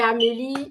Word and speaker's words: Amélie: c'est Amélie et oui Amélie c'est a M e l i généralement des des fois les gens mettre Amélie comme Amélie à la française mais sachez que mon prénom s'écrit vraiment a M e l i euh je vous j'aurai